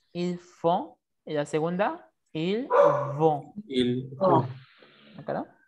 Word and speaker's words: vont: Et la segunda, ils vont. Ils vont. ¿Acá? La primera es una F como tal, la segunda es una B labial.